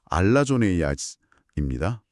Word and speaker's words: ἀλαζονείαις: 아, 라, 조, 네이, 아이스. 라, 조, 네이, 아이스? 이거 발음할 때 턱이 아래로 뚝 떨어지면서 입이 양옆으로 쫙 벌어지네요. 정확하게 캐치하셨습니다. 첫 음절부터 아 하고 입이 굉장히 넓게 열리죠.